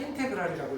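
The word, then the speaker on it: integral: 이 기호를 읽을 때는 인테그랄이라고 읽어요.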